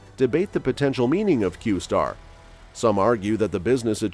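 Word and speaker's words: Q*: in the article was qar which is pronounced qar the qar conspiracy theory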